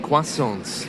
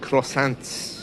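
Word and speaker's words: croissant: that um oh delicious quasons oh I love those did you know many British people don't buy them because they don't know how to pronounce them because it's spelled like crossant quason in French oh pan or raisin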